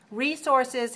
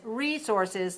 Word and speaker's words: resources: Resources has 2 pronunciations. One is resources, 3-1.